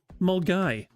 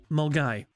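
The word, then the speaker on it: Milngavie: So, that word that Milan Gabi word, it's pronounced Mulgai. I kid you not. That that place is pronounced Malgai. True. I go on a truth. I promise you it's pronounced. That's how it's spelled, but it's pronounced mai.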